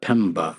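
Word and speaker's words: Mpemba: Um, there is an effect called the Pemba effect, and that's spelled with an M at the beginning.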